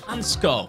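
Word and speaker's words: Hancko: And we have also brought in the like of Hansko. That is apparently pronounced that way. I was saying Hanko all the time. The Czech Republic fans in the comments have corrected me.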